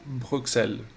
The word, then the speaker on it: Bruxelles: Bruxelles se llama esta curva.